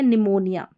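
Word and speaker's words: pneumonia: याद रख लेनी है क्योंकि पी जो है प्रोनंसिएशन में आपको पी का उच्चारण नहीं करना है लेकिन जब लिखें तो वहां पर आपको पी लिखना है और याद रखें मन में कि यहां पर निमोनिया में पी साइलेंट और पी जब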